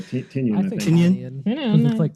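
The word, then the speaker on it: Tynion: Yeah, Tenion.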